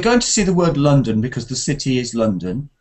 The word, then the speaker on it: London: do you say london london london yes the first vowel is ah like in up because we have an o a letter o often has um the sound ah like in love and